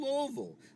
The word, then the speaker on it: Louisville: You're in Louisville, Louisville, Kentucky. That's how we pronounce it.